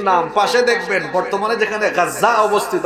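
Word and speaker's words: غزة: পাশে দেখবেন বর্তমানে যেখানে গাজ্জাক অবস্থিত আপনারা গাজ্জা বলেন আরবিতে উচ্চারণ হলো গাজ্জা যেখানে গাজ্জা অবস্থিত সেখানে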